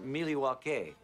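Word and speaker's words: Milwaukee: Actually, it's pronounced Miliwake, which is Algonquin for the good land.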